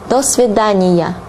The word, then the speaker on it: до свидания: Now, saying goodbye in Russian would be до свидания. До свидания. До свидания. Although there are two words here, you pronounce it as one word.